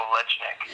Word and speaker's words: Olejnik: I'm a little more rough with it. I say Olejnik.